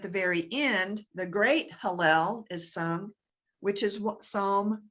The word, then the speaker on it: Hallel: Barclay talks about how part of the ritual in the Passover Feast is singing of what's called the Hallel. How do you pronounce it, Claire? Hallel, Hallel, Hallel.